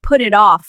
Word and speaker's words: put it off: Don't say put it off like a robot. Say it smoothly. Put off. The t becomes a soft d sound.